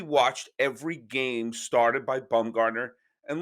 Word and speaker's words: Bumgarner: bumgarner and lincecum started my father never pronounced their names correctly lincoln dumb lucincum lunakum boom garner bam gardner baumgardner there was always something slightly off boom gardner but uh